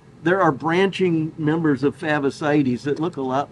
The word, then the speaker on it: Favosites: about favosites and by the way it is pronounced favosites favosites is not plural that's the genus name so